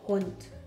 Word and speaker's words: hond: And how we pronounce hond is ho, ho, o, n, d. Hond.